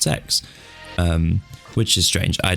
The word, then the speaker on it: CeX: it's spelled CeX but it's apparently supposed to be pronounced sex um which is strange